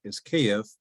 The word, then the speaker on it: Kyiv: with the fact that in Ukrainian, the name of that city is Kyiv, pronounced roughly like that, and spelled KYIV.